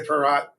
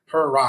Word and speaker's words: Pieratt: I used to tell my students it's pie like a pie and rat like a rat, like it's how you spell it. Purr like a kitten and rotten like an apple. Pieratt.